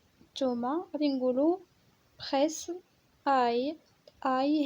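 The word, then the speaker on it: ail: اي هي الثومة كتكتب ا اي ال، ال ما كنطقوهاش يعني elle ne se prononce pas.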